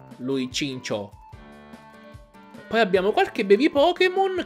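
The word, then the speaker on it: Chinchou: ho cambiato chin chao in realtà andrebbe pronunciato cincio dato che viene dal pesce lanterna quello che il pokémon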